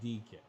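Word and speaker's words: Dike: Pronounced DK.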